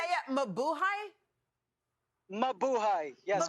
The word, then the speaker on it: Mabuhay: Mabuhay.